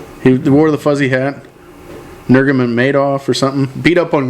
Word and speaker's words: Nurmagomedov: Nurmagomedov. Oh, you're pronouncing that right. Boy, a lot of syllables in that, huh?